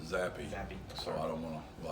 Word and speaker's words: Zapp: Yeah, I believe he pronounces it Zappy.